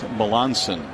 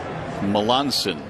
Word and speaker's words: Melancon: Well, our apologies to the right-hander, but his last name is pronounced Melanson. Melanson, even though it's spelled Melancon.